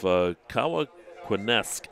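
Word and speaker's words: Cowanesque: night Cy knocked off kaak quesque Valley 20 to6 I think that's how you say it k in you no it's con it's c o w a n e s q u EES and you know and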